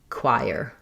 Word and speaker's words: choir: Choir. Choir. So listening first we have the k- sound then the w glide. So it's really a triphthong.